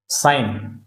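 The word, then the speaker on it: sign: fill करना है ठीक साइन तो यहां पर बच्चों साइन में जी साइलेंट है जी का हम उच्चारण नहीं करते वक तो एल साइलेंट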